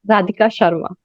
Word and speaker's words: Radhika Sharma: Because all of you, since you not be knowing my pronunciation of the name, it's pronounced as Radhika Sharma.